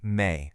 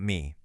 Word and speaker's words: Me: First things first, and this is absolutely crucial, it's pronounced may, not me.